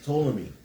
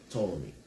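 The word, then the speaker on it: Ptolemy: The first one is to me, right? To me. Spell it PT. P O L E M Y. Tommy.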